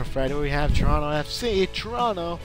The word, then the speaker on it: Toronto: we have Toronto FC Toronto the first o is silent they're taking on the